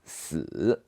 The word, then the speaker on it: 死: So the number you should avoid is number 4, because in Chinese, number 4 pronounced 4, and which is very similar to the pronunciation of death, which is 死.